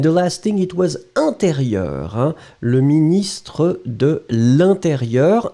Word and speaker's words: intérieur: And the last thing, it was intérieur. Hein? Le ministre de l'intérieur. Intérieur, you will write it like E-N. Remember, it's a nasal, so everything is going in the nose. You don't pronounce any N.